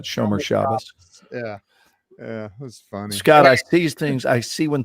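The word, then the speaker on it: shomer shabbos: eric said show me chavez that's from the big lebowski i don't roll i don't roll on walter you're not even jewish man it's showmer shabbos is the way to pronounce that shomer shabbas these things i see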